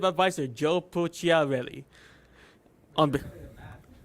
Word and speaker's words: Pucciarelli: On be- Pucciarelli, that's how you say it. Yesterday you were like, Piccadilly? Piccolo? on behalf of the team at IWC, yeah, yeah.